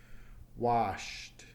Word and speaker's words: washed: Ends in a sh sound. You can feel your throat. Does that vibrate? Shh. Washed. Washed. Here's the T at the end, so that takes a T sound.